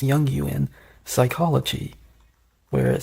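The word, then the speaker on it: Jungian: The white rabbit from Alice in Wonderland is used in Junguin, actually pronounced Yong Yuan, psychology, where it says that it represents a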